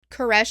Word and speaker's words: Koresh: And his answer was, you know that last breath that somebody takes right before they die? That's how you say it. Koresh.